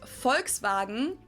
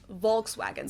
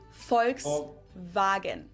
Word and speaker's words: Volkswagen: it would be pronounced Volkswagen and not Volkswagen so just imagine that it was spelled with an f and V instead folks vagen this literally means people's